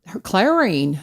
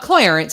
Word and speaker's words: Clarine: Clarine. Clarine, uh-oh. Not Clarence. Everybody called her Clarence, but Clarine. So, but you'd look at the name and they'd mispronounce it. And it's like, no, it's Clarine.